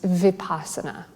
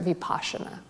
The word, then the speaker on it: vipassana: The other practice I would like to offer is vipassana, or in Sanskrit, vipassana. Both pronunciations work.